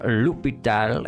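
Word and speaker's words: L'Hôpital: This is a name of French origin. In French, it is said as lupal. Lupital.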